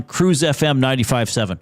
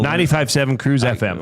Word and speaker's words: CRUZ FM: And starting at 6:00 tomorrow morning, the Neielen show is on Cruise FM 957. What is the proper way to say their style cast? Is it 957 Cruz FM or is it Cruise FM 957?